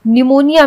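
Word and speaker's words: pneumonia: कैसे आयरलैंड होता है निमोनिया में पी साइलेंट होता है निमोनिया अधिकतर लोग सोचते हैं की निमोनिया एन से होता है ने यू एम ओ एन आई एन निमोनिया होता है लेकिन निमोनिया पी से स्टार्ट होता है तो पी से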